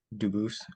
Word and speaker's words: Dubis: I am Anthony Edward Duboose. Um, Dubis is the English pronunciation. Duboose is the original French.